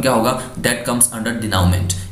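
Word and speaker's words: denouement: हैं उनका आउटकम क्या होगा, दैट कम्स अंडर डिनाउमेंट। स्पेलिंग देख लीजिए इसकी, एन डी ई एन ओ यू ई एम ई एन टी, डिनाउमेंट, और बोल सकते हैं इसको द फाइनल रिजोल्यूशन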